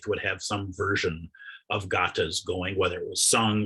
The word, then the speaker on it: gatha: word i am saying gata is pronounced gata and it is spelled g-a-t-h-a gata it looks like it'd be pronounced gotha in standard midwestern english or crepes you know